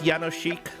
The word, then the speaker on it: Jánošík: yes okay in Polish you pronounce the J like a y and then the S like an s h and then the K